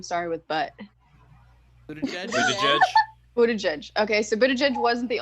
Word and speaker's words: Buttigieg: How do you pronounce the Democratic candidate that name started with butt? Buttigieg? Buttigieg? Buttigieg.